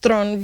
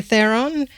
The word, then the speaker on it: Theron: Shot with Charlize Theron it's actually pronounced Thron because she's South African but if your're English you say Theron and with Seth Rogen